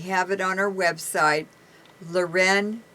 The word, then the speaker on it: Leuren: it online we have it on our website luren and my name is spelled l e u r e n